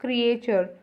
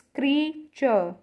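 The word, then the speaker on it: creature: Next word है, हम इसे बोलते हैं क्रिएचर, बट इट्स नॉट क्रिएचर, इट्स क्रीचर, इट्स क्रीचर।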